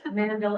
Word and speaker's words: Mandel: I had to tell myself it's not as in Mandel, it's Mandel as in Handel, Messiah. So that's how I remember it.